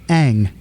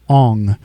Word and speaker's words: Aang: Like in the cartoon, it's Aang. In the movie, it was Ong.